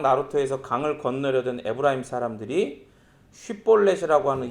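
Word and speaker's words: 쉽볼렛: 그러니까 이 장면은 사사기에서 길르앗 사람들이 요단강 나루터에서 강을 건너려던 에브라임 사람들이 쉿볼렛이라고 하는 이 발음을 하지 못해서 십볼렛 이렇게라고 얘기하면 죽여요.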